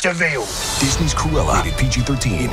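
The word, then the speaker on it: De Vil: He's spelled devil, but it's pronounced devil.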